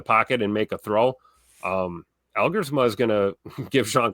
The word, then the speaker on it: Elgersma: But like, Taylor Elgersma, is that how you say it? The Canadian? Yes, Elgersma, like big arm, dude.